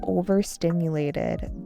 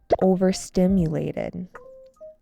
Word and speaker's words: overstimulated: The constant buzzing of notifications distracted her and she felt overstimulated by the nonstop flow of information. Overstimulated. Overstimulated. This has an emphasis on the third syllable.